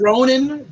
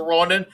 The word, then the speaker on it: Ronin: around 20 issues and his name is ronan ronin is his name that's a different thing